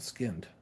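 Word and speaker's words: Skynd: chance uh check out skinned it's Sky N D I think is how you say skinned um that's how it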